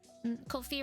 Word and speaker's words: Ko-fi: Ko-fi rhymes with no fee.